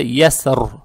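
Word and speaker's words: يسر: Здесь буква «я» с фатхой, далее стоит буква «син» и буква «ро». Опять здесь, при остановке, так как касра исчезает, и исходя из того, что «ро» с сукуном, «са» с сукуном, «я» с фатхой, мы должны читать букву «ро» твердо. Получается «яср». Но здесь хочу сказать, некоторые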